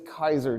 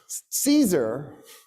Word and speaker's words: Caesar: what a guy named gaius julius kaiser did you guys incorrectly call him julius c caesar i'm gonna do it